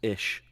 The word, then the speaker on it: ich: So like ich is pronounced ish.